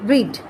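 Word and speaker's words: read: এখন দেখো রিডের first tense কিন্তু বানান কিন্তু একই হয়, রিড, হ্যাঁ, কিন্তু উচ্চারণটা আমরা পড়ি হচ্ছে রেডের মতো করে, ঠিক আছে, বানান একই।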